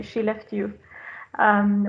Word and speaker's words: Skellefteå: i've listened to and if you would like to pronounce celestia you could say she left you which is one way of pronouncing our name um you could change